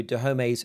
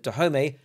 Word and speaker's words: Dahomey: My pronunciation of Dahomey follows the French pronunciation rather than Dahomey, since it is a word which was invented by the French.